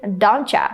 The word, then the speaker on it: doncha: This is just how we pronounce these two words. Instead of saying don't you, we can just say don't cha.